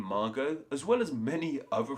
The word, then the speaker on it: Margot: actual written form of that word the word Margo and many other French words would set in